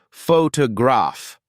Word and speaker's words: photograph: to the schah sound take the word photograph if you pronounce it carefully it sounds like photograph the middle syllable T is a reduction of what would otherwise be a clearer toe sound if the word were stressed differently these reductions are what